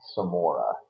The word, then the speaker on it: Semora: But the cover for the Protocols of Uma was done by a guy named Donald Samora. His last name is spelled Semora.